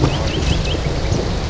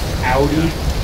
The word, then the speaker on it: Audi: The only luxury car that I really want is Mods. Why? I love Mods. If you love them so much, you should pronounce it correctly. Audi.